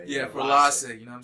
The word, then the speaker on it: Frilace: Frilace. Yeah, Frilace.